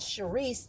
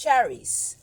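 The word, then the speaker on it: Charisse: it but it's not it's not Sherice the way I spell it c h a r i SS e it's cherice or cheris a Charice it's French or something yes it's French um and you can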